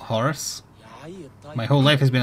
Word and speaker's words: Horus: bright wings of horse it's pronounced Horus not Horus my whole life has